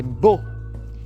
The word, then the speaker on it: beau: em francês bo exato é bo e se escreve pia né E esse u no final é o remanescente do L antigo que depois Bel teria